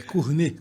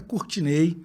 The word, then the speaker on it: Cournet: Então, antes de mais nada, um dos mistérios, meu nome é francês, então a pronúncia correta é Cournet, como vinho Chardonnay. Mas eu sou baiano, então a pronúncia mais comum é Courtinei, como a gente fala lá em casa, né, meinha, painho e companhia.